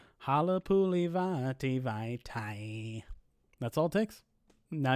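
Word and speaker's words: Halapoulivaati Vaitai: my name bracket posts, you can say Halapuli Vati Vaitai's name to the song Play That Funky Music White Boy, and it works perfectly.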